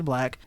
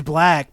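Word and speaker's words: 6LACK: Do they not just say his name is Black? I think it is Black, but it's Six Lack. The B is a 6.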